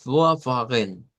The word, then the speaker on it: Vorfahren: Es una F lo que se convierte esa V. Y no se nos olvide que la V y la F tienen relación. Ve, en la tabla del alfabeto fonético internacional, estas son dos consonantes que están a la par. Y la diferencia entre uno y otro es la vibración o no de las cuerdas vocales. Entonces, esto va a sonar a vorfahren, vorfahren.